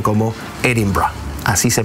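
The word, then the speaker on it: Edinburgh: y los escoceses con su acento particular lo pronuncian como Edinburg así se pronuncia edimburgo en escocés Bueno vamos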